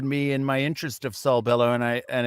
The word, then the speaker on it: Saul Bellow: Sal Bello. Yeah. Oh well, Saul, but we won't take any points away. Saul Bello. Yeah, anti-Semitic. So don't know. Maybe pronounce it right next time.